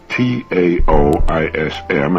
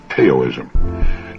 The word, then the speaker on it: Taoism: discussion of the chinese taoism of particular interest that's spelled t-a-o-i-s-m and often mispronounced teo-ism taoism the tao signifies the energy of the